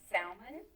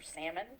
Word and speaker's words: Salmon: know this but she married a guy named salmon or salmon whichever you want to pronounce it man and one